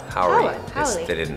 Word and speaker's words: Howery: C, Lil Rel Howler. Howery. Howery. They didn't spell it the same, right?